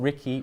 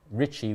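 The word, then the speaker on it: Ricci: name wrong it's not ricky which you're pronouncing it as the english way it's richie with the r being rolled and the double c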